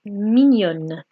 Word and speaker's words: mignon: Here, mignon, we're almost swallowing the n sound. Mignon. We're not letting it finish.